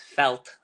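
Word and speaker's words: veld: Africa this is pronounced felt the V is said like an f and the D is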